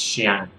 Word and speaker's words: Chiang: It's Chiang. Pronounced Xiang, but you just sort of say it fast.